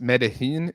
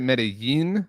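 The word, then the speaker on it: Medellín: And also, how did you pronounce this? Medellin? Isn't it Medellin? Like I don't know. Pronounced like a Y?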